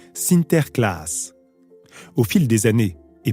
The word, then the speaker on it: Sinterklaas: La communauté hollandaise maintient ses traditions d'antan et célèbre la Saint-Nicolas, prononcée Sinterklaas.